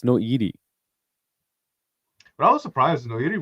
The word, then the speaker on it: Noiri: Noiri. Noiri. There you go. I've been calling it Nori the whole time. Me too. I was like looking at his name. I was like, oh, it's Noiri.